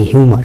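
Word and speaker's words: humour: হুমা নাকি হিউমার?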